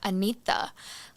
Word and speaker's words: Anita: how to actually say my name so it's Anita like yeah an well I'm glad you did